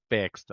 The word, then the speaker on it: fixed: you say this word fixed exactly fixed not fixed fix right fixed with a t end fixed lovely lovely all right